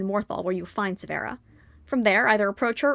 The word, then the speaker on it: Severa: Well, it's pronounced Savera, but yes.